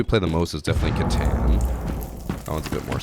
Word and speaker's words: Catan: It's pronounced Catan. Catan.